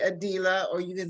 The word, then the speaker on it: Adilah: to be addressed well my name is actually pronounced adila a dealer you can either say adila or you can say